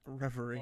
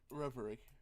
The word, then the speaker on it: Reverie: How do you say it? Reverie. R-E. I that's not how you say it. Reverie. R-E-V-E-R-E.